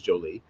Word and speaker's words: Jolie: Um, so for those that pronounce for wondering, it is not pronounced Jolly, it is Jolie.